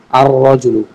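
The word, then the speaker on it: الرجل: আলিফটা সরাসরি রকে গিয়ে ধরবে, লাম মাঝখান থেকে বাদ হয়ে যাবে। আর রজুলু।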